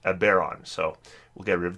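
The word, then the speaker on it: Eberron: the bear arm content I think I called that ever on last time and people were telling me that it's pronounced a bear on so we'll get rid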